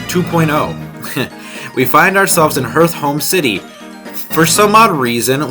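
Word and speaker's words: Hearthome: when I was younger, I would always pronounce it Hearth Rome City. And when I was older, I reread the text and I was like, oh, I'm dumb.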